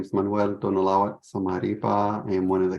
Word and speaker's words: Zamarripa: Manuel Zamarripa. Sorry, I just butchered your last name. Zamarripa.